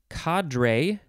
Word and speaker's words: cadre: Next we have, you can pronounce this a few ways. Cadre, so many. You could combine these syllables in lots of different ways, and you're bound to say one of them correctly.